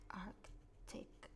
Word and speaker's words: Arctic: voy a anotar, nunca me acuerdo si Arctic, perdón. Arctic, se pronuncia la C.